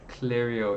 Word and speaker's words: Clario: Clario, if we've said it right. Clario, yes, that's right.